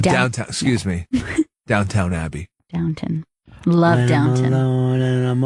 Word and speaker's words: Downton: He did That's a little pronounced Downtown Abbey. Oh, Downtown. Excuse me. Downtown Abbey. Downton.